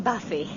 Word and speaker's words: Buffy: I'm Buffy. Yes, I know it's a funny name. It's spelt B-U-F-F-Y.